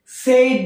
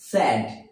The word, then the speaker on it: said: ওকে, SAID, মোটামুটি 90% আমরা বাঙালি 90% এটাকে আমরা সেইড বলে থাকি। কি বলি? সেইড, কিন্তু আসলে এর উচ্চারণ হবে স্যাড। কি হবে? স্যাড, not shed.